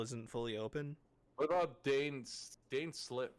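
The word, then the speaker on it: Dainsleif: What about Dane Slip? How do you pronounce that guy's name? Dane's Lift, voiced by Yuri Lowenthal.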